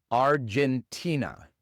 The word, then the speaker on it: Argentina: Y entonces en Argentina todo se pronuncia igual, excepto la R y la G. Claro que es una R inglesa, no es ar, sino R. Y la G en inglés es J. J. Argentina.